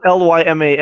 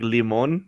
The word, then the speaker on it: Lyman: Oh, Lyman. I was thinking like a Spanish pronunciation like limon. Oh yeah, like I was like the subliminal Sprite commercials. right, exactly. Yeah. Okay, Lyman.